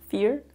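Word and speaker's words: vier: Voer. What? No, I don't know. Is that actually, how do you say it in Dutch? Fear.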